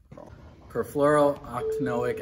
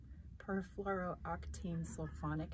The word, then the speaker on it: perfluorooctanoic: phonic acid I think can't even say that perfluorooctanoic acid / floral octane sofa not sulphonic acid